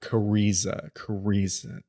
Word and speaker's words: Kariza: Cariza, okay. Cariza. Oh, that's how you pronounce it. Cariza. Damn it, I was gonna make a Riz joke. Cariza herself is another draw.